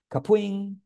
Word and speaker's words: Kapwing: later but anyway um it's actually pronounced caping little known fact uh it comes from